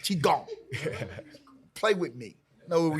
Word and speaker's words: Qigong: Qigong. Mm-hmm. Y'all see I pronounced it correctly. Qigong.